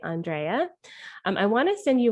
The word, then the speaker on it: Andréa: this was fun because my name is pronounced andrea not andrea and so i thought